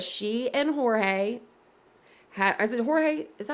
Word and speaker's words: Jorge: and Jorge is it Jorge is that how you say his name I always say it wrong I think I think it's hooray instead of George but I think it's